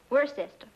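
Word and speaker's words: Worcester: else too doc but it's spelled w o r c e s t e r where sister oh yes I see yes Lord Worster mhm his M be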